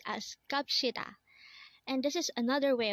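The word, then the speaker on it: 갑시다: Again, this is pronounced as Kapshida, and this is another way of saying let's go, but this is a formal way of saying let's go.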